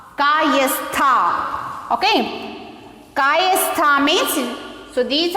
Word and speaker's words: Kayastha: Next, K-A-Y-A-S-T-H-A-S. So how to pronounce this? See here, Kayastha. Kayastha.